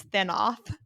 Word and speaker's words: Thanoth: minder, this guy named I don't know how to say the name without it sounding like Thanos, but I think his name is Thanoth.